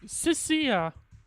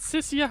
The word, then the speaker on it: Cissia: Cisia. Not Cicia how I've been pronouncing it.